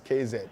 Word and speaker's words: Queiroz: He says the Q-U-E-I is K, one word. Carlos KZ. One alphabet in English.